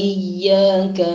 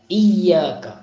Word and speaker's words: إياك: പിന്നെ അടുത്ത ആയത്താണ് ഇയ്യാക നഅബ്ദു വ ഇയ്യാക നസ്തഈൻ. إياك نعبد وإياك نستعين. إياك തുടക്കത്തിൽ ഉള്ളത് ഹംസയാകുന്നു, തുടക്കത്തിൽ ഹംസയാണ്, അതിനെ ഈ കസ്റുള്ള ഹംസയാണ് ഈ. إياك إياك إياك نعبد إياك نعبد. അവിടെ യാഇന് ഷദ്ദ് കൊടുക്കണം, ഇയ്യാക ഇയ്യാക.